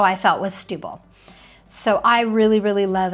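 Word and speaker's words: Setúbal: It's called Stubil. That's how it's pronounced.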